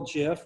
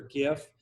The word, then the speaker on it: GIF: and this is just a little Jif or gif depending on how you like to pronounce that and he put it